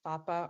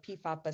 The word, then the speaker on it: PFAPA: periodic fever syndrome called fapa or pifapa syndrome when i pronounce it p silent and how it may